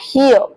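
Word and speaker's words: here: इसमें भी आर जो आर का साउंड है वो प्रॉपर नहीं आएगा। आपको थोड़ा एच वाला साउंड है ना मतलब प्रॉपर भी नहीं। आपको बस आर वर्ड को साइलेंट ही कर देना है।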